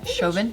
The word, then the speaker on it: Chauvin: pronounce the guy's eyes is this Chauvin or Chavan Chauvin children like a chauvinist pig so thank you so